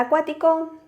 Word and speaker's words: acuático: Si tenemos la palabra acuático, acuático.